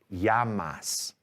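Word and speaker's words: llamas: l in spanish no double l sounds like yeah in a sentence so this word right here yeah l-l-a-m-a-s is pronounced yamas as in what's your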